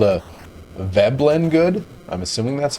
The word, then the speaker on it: Veblen: texan gave us an answer it's called a veblen good i'm assuming that's how you pronounce it veblen v-e-b-l-e-n i'm gonna put the